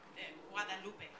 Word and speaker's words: Guadalupe: Guadalupe, right? Is that how we pronounce it? Guadalupe. Virgen de Guadalupe is the proper pronunciation.